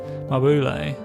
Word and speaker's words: Mabule: So I've called it that because I feel like it seems most similar to the Japanese, the katakana reading of it, but you know, people